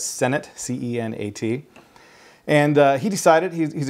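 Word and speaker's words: Cenat: first name is Kai I believe you pronounced his last name as Senate c-e-n-a-t and he decided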